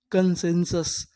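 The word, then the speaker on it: consensus: एन लिखा है कनश एस यू एस इसे क्या पढ़ेंगे? सस यहां पर जो यू है वो भी आ का काम करेगा। तो हमारी पूरी मीनिंग क्या बनी? कन सेंशस। कंसेंसस कंसेंसस।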